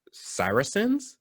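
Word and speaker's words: Saracens: turks arabs okay or cyrusens i think is how you say that word s-a-r-a-c-e-n-s um and the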